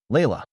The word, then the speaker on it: Layla: Layla. He pronounced it correctly, with the soft Arabic inflection that made her grandmother's name sound like music.